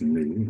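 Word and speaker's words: nu: The frequency or new is pronounced new. It's a Greek letter.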